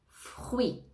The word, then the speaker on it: fruit: famille famille fruit fruit on ne prononce pas le thé à la fin fruit fruit hôpital ne prononce